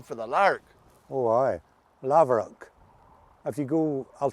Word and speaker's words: Laverock: Oh aye, Laverock. If you go, I'll spell it to you and then it'll make sense to you.